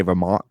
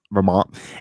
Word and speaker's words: Vermont: and of course like i don't pronounce my t's like the i say vermont vermont and um so like